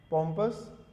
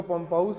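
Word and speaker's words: pompous: Cavalier, पॉम्पस, इसको पम्पाउस मत बोल देना, पॉम्पस है ये, ठीक है, पॉम्पस है।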